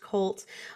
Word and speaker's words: QLT: It's actually QLT, but it's pronounced CULT.